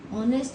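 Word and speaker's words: honest: ऑनेस्ट में पहला sound वो जो वोवेल है वो एच है। But when you pronounce it this is ऑनेस्ट। वी are getting the sound of ओ। ओ की साउंड आ रही है।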